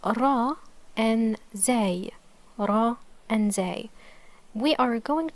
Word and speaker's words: راء: to the Spanish okay the sound occurs when the tip of the tongue presses to the surface upper palette as you can see